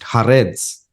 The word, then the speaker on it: Haaretz: You have the newspaper, how do you pronounce it? Haaretz.